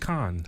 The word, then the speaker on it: Cannes: All right, Charles, man, the Cannes Film... I keep saying Cannes. It's Cannes. The Cannes Film Festival is going on right now. There's no S. It's just Cannes.